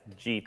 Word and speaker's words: gita: Now, Justin, am I pronouncing that right? It's gita? Correct, yes, gita.